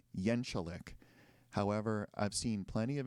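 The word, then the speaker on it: Jeczalik: So his first name is JJ, and when asked, he pronounces his last name Yenchalik. However, I've seen plenty of interviews where the interviewer pronounces it as it's spelled or how it looks, which is Jezkalik.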